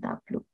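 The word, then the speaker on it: Tableau: boleh lihat di Youtube tulisannya cuman bacanya tabluk Nah itu juga powerfull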